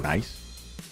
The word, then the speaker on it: Nice: Nice in French. In French is like spelled like that. It's just pronounced nice.